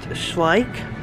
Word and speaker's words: Schleich: a whole display on Sleek we're gonna say that's pronounced Schleich but look it's all